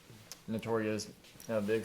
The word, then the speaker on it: Notorious B.I.G.: I got like Notorious, big stuff like that.